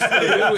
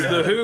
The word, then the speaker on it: The HU: well, no, it's the Who. It's the Of course I've heard of the it's the Who. It's the HU is how you spell it.